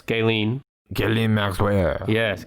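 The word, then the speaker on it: Ghislaine: sex offender oh jeffrey is that how you say it jelaine no it's gaylene gilliam maxwell yes gailene maxwell she uh like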